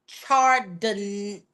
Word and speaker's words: Chardonnay: So before we even get into it, Chardonnay, I think it's pronounced Chardonnay Solomon. like the drink Chardonnay.